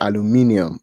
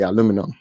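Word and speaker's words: aluminium: It's aluminum, but Americans say aluminum. So I also say aluminum, just so everybody can understand me.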